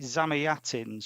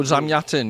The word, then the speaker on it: Zamyatin: So uh and I can't I'm going to butcher the the pronunciation of the author. Uh is it Zamiatins who wrote Oh Zamyatin?